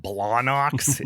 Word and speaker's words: Blawnox: And just to say it just say it phonetically like that, Blawnox, is such a a Pittsburgh thing to It's perfect.